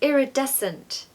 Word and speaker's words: iridescent: is kind of interesting there's a silent c okay so don't pronounce the C it's just iridescent iridescent make sure you